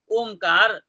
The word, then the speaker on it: ओम: एतम त्रिमात्रेण ओम इति, ओम जो है त्रिमात्रा है, क्योंकि ओम का उच्चारण जो होता है प्लुत होता है, इसलिए त्रिमात्रेण ओम इति